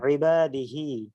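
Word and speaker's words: عِبَادِهِ: আয়াতে আলা মাইয়াশা মিন ইবাদিহি ইবাদিহি তাহলে ইবাদত অর্থাৎ ইবাদাত অথবা ইবাদিহি এটা আইনের উচ্চারণটা একটু হলকের মাঝখান থেকে হবে আর ইয়া জের হবে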